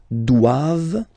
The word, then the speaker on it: doivent: All right, and then the last one, ils doivent. So same thing, classic ending for the plural form, ENT here, okay, but then you don't pronounce it.